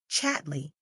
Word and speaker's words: Chatterley: She pronounced the name, as all the people did, Chatley. Isn't Lady Chatley good to you?